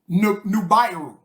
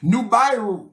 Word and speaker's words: Nibiru: Nubiru. That's how you're supposed to pronounce it. Nubiru. You know how I know? That's where we get the name Nubia from.